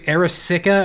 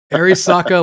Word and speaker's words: Arisaka: Arisaka, like the gun from World War II, and then Shingen is just Shingen for right now.